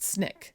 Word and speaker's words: SNCC: He became involved with the Student Nonviolent Coordinating Committee or SNCC, pronounced SNIK, while in college.